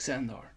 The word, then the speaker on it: Xandar: That is spelled a bit differently, like I'm saying it. Xandar.